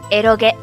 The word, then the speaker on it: eroge: How to pronounce this? Eroge.